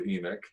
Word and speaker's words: Enoch: The book Enoch, of... I pronounce it differently. Okay. Enoch. Knock or Nick? Knock. Knock. That's what I thought.